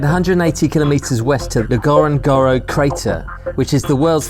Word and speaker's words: Ngorongoro: So that's how you say it, Ngorongoro.